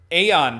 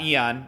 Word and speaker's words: Aeon: And Aeon Black, not Eon, I had to say